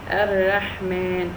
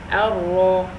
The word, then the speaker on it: Ar-Rahman: The letter Ra has a fatha on top, so I can never pronounce it Ar-Ra, Ar-Rahman, Ar-Ra, Ar-Rahman.